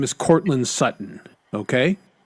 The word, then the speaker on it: Sutton: His name is Courtland Sutton. Okay. S U T O N. Sutton. But they don't say Sutton. They say Sutton.